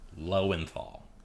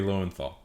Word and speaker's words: Lowenthal: that took far too long to find find pronunciation guide for that lowenthal Yuri L and FL okay moving on yeah he got it finally Yuri lenthal I always find it funny that Yuri lenthal